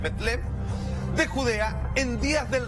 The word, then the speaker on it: Belén: San Mateo, capítulo 2, versículo del 1 al 3 dice: cuando Jesús nació en Belén, cuyo en realidad pronunciación es Betlem, de Judea, en días